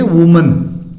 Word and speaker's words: women: वुमन से क्या हो जाएगा, वीमेन, WOMEN, वीमेन, ये ध्यान रखना है।